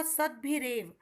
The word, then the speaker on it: सद्भिरेव: सिद्धिरेव सिद्धि plus सद्भिरेव, शब्द का उच्चारण होगा सद्भिरेव, सद्भि प्लस एव सज्जनों